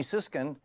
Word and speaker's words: Siskin: Thom Hartmann here with you, and in the studio with me, I'm really pleased to have Amy Siskin. Am I saying it right? Siskin. Siskin, yes.